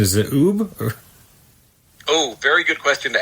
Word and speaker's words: Ub: Is it Oob? Oh, very good question to ask. And either one is correct. So Oob called himself Oob, and Walt called him Ub, which meant everyone else at Disney called him Ub also.